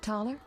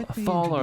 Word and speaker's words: Thaler: Geralt, have you met Taller? Taller? Here? Oh, Thaler, that's how you say his name.